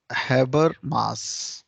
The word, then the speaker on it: Habermas: इसमें हम नाम लेंगे हैबर मास, स्पेलिंग यही लिखेंगे, हैबर मास।